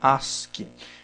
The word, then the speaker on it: ASCII: é o código as se escreve a s c i i mas se fala se pronuncia Ask esse código aqui ele